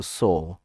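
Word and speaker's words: sew: शी इज़, इसको प्यारे बच्चों पढ़ते हैं सो, ठीक है, सिलाई करने को सो, स्यू नहीं पढ़ेंगे। कुछ लोग इसको स्यू पढ़ते हैं, तो ये ठीक प्रोनाउंसिएशन नहीं होगा, सो पढ़ेंगे, और इसकी आईएनजी फॉर्म के साथ ही हो जाएगा सोइंग।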